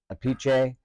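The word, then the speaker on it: Appice: his last name uh if if it's Italian it's a piche and his brother says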